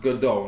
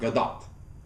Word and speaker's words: Gal Gadot: the actors behind one-to-one Gal Gadot it's it's pronounced Godot not Gadot Gadot okay the t is sound Gal Gadot